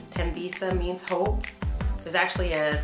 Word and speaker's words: Thembisa: people pronounce it correctly tembisa H is silent M shopping so I've